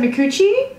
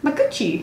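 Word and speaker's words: Micucci: the other one kate i always said mikuchi maguchi surely it's not that i don't know actually pronunciation okay that makes more sense very close to my coochie sorry okay she's on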